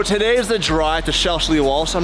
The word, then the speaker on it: Shelsley Walsh: So today is the drive to Shelsley, Walsh.